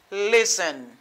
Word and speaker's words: listen: nous connaît, n'a dit listen. Listen. Me dit listen. The letter T is not pronounced. It is silent.